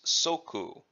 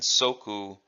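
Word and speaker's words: 足: this in this context we use the the pronunciation it's ooh it's ooh okay and then the term for foot is soku now in in an earlier technique Oishi upgma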